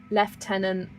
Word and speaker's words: lieutenant: Left tenant. Lieutenant. Like, it looks like it should be lieutenant, but it's actually left tenant.